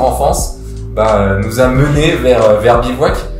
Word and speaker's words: Bevouac: nous a mené vers Bivouac avec un E, je tiens à le préciser, parce que souvent nos investisseurs nous font bien rappeler que ça peut se prononcer Bivouac.